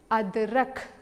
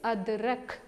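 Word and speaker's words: अदरक: How we pronounce adrak? Can you say along with me? It's adrak, okay.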